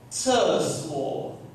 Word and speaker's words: 厕所: 厕所. 厕. The C is the this sound, like the TS, 厕所, like an S-W-O, 厕所在哪里?